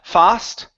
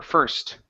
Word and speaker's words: first: is the word first instead of fast okay give me an R sound fur first first uhhuh good so